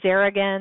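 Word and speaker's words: xaringan: there that's one there's a new one called Garrigan that's actually spelled with an X so this is another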